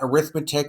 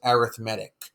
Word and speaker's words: arithmetic: sequence called an arithmetic sequence it looks like arithmetic but we actually pronounce it arithmetic you might remember from the previous lesson we